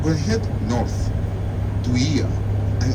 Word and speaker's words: Oia: One of them is the default O and I combined together, that's pronounced as E. But no matter how you call it, Ia or Oia, the views are there.